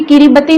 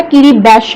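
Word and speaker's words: Kiribati: रही थी किरिबती आइलैंड, ये किरिबती नहीं है, इसकी प्रोनाउंसिएशन जो है किरिबैश है, किरिबैश।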